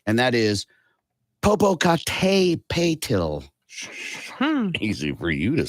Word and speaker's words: Popocatépetl: And people are having a hard time pronouncing its names, the name of it, rather. Popocatépetl, and that is Popocatépetl.